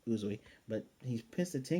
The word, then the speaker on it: Uzui: still utterly pissed about tinging uzui that's how you say his name uzoi but he's pissed to